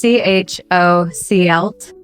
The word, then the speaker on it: chocolate: Last one, chocolate. Oh, tricky. The late, so it's CHOCL.